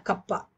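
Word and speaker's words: kappa: கப்பான்னு சொல்லுவோம். இது எப்படி ப்ரொனவுன்ஸ் பண்ணணும்? கப்பா. சிமிலர் டு கே, கொஞ்சம் ஒரு நார்மல் கேக்கும்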